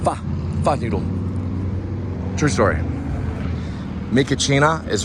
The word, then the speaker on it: pho: But it's, a lot of people say pho or foo. It's actually pronounced pho because I asked a Vietnamese person. They say it's pronounced pho noodle.